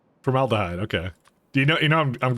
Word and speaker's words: formaldehyde: Blow your mind how to pronounce formaldehyde. Formaldehyde. That's what it is. Formaldehyde. Right? 1 second. Formaldehyde. Dude, it's like the second position.